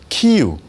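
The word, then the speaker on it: 키이우: 아, 그리고 그 중심지가 오늘날에 그 키유, 그니까 우크라이나로는 키유고 러시아 발음은 키에프라고 하는데 여기가 바로 동슬라인들의 그 중심지였습니다.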